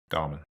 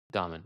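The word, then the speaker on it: Dahmen: I mean we're all I mean if you're not a Joel Damon fan how do you pronounce his last name? Domen. Domen.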